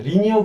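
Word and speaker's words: linear: 네, 리니어 그라디언트는 어쨌든 클릭해서 쭉 표현되는데 평면적이다라고 해서 LINE 라인에다가 AR 붙여서 라이나라고 하시는 분도 있는데 리니어라고 발음을 하더라고요.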